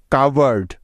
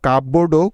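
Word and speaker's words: cupboard: কাভার্ড, CUPVOARD, কাভার্ড। অনেকে এই শব্দটার উচ্চারণ আবার কাপবোর্ডও করে থাকে, যা সম্পূর্ণ ভুল বা রং উচ্চারণ।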